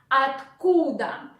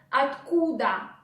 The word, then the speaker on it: откуда: In Russian it is откуда, откуда. Look, or we again pronounce like A, then combination of 2 consonants, tk, tk, tk, tk, откуда, откуда, откуда.